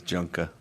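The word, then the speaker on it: Junqua: There's actually a pronunciation guide on the website. Surprised you didn't know that. It's under roster. And it says how they say their names. So he says Junka.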